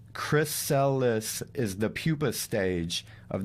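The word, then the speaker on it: chrysalis: with this piece of paper greek for gold pronounced chris cellis is the pupa stage of the caterpillar also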